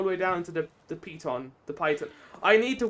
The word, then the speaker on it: piton: How to pronounce python? Piton. Piton. Okay, it's piton.